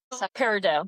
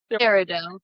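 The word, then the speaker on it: peridot: Parido. Thank you. Parido.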